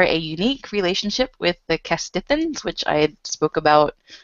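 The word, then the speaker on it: Castithans: I don't remember how they're pronounced. Yeah, it's Kestithans.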